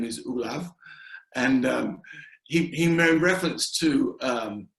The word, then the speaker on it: Olav: His name is Olav.